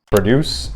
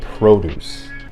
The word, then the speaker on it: produce: Now for this next one, the difference in pronunciation is very slight, so pay close attention. Listen carefully and my words will shape images as clear as any TV show. Produce and produce.